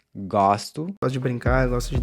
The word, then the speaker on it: gosto: So here, we see how the pronunciation of the O changes from a closed to open in the I form as well. So I like is eu gosto.